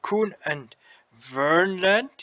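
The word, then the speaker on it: Kverneland: K and S is probably also new, but Kuhn and Vernland, you don't pronounce the K here, that is an old brand name from Farming Simulator 15.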